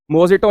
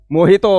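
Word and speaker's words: mojito: Spanish का word है मोजो नहीं होता इधर देखो इधर देखिए मोजो नहीं होता मोहितो होता है इसे क्या बोलेंगे मोहितो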